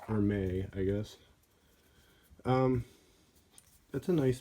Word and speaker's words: Hermès: I guess I always I thought it was a Burmese like Hermes whatever like that Greek whatever but it's pronounced or may I guess that's a